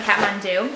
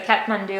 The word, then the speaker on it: Kathmandu: jacket from kathmandu and i probably pronounced that incorrectly because it's new zealand kiwi brand and i definitely have an accent the wrong accent when i pronounce it so kat mandu i think is how they say it that being said i